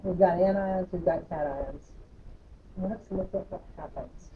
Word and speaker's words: cation: positive cats are positive this is called a cat ion modification a cat ion is how you say it caps are positive so